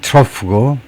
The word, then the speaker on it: trough: 이거 그 바닥은 trough고 정점은 crest다 이 말이네요. 그래서 사이클을 이룬다. crest, trough. 발음은 trough가 되고. 그래서 crest가 climax라는 말이네요.